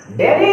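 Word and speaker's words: Delhi: था पिछले वीडियो में एच को हम क्या करेंगे साइलेंट करेंगे क्या करेंगे साइलेंट करेंगे कहीं क लिखा रता है कली लिखा रता है व सही नहीं क्या बोलेंगे ली डेली इ द कैपिटल ऑफ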